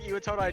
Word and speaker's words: Iwatodai: Iwatodai, okay.